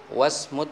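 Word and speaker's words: وَاسْمُ: Wasmu tabibi, di sini ada hamzatul wasl dibaca wa ism, dibaca langsung ya, kita bacanya wasmu ya.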